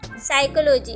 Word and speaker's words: psychology: साइकोलॉजी में कौन सी spelling है? PSYCHOLOGY। साइकोलॉजी। अब हम इसे साइकोलॉजी तो नहीं रीड करेंगे, तो हमारे पास कौन सा वर्ड हम इसमें साइलेंट है? P यहाँ पर साइलेंट वर्ड है।